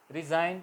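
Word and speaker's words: resign: एन किसी भी शब्द के अंदर आई और एन के दरमियां अगर जी ए जाए तो जी साइलेंट रहेगा पर एग्जांपल सी जी एन आई और एन के दरमियां जी ए गया तो जी साइलेंट रहेगा प्लस होगा साइन इतना रिजाइन इस्तीफा रिजाइन गण होगा मगर बोला एन जाएगा रिजाइन जी साइलेंट फौरन फौरन कंट्री में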